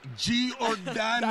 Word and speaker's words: Giordano: Becky, it's Giordano. That's right, that's Giordano. How you say it.